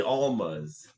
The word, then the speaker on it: Almas: The Almas.